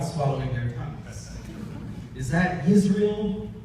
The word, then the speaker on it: Israel: Is that Israel, Yisrael, Baruch, Baruch?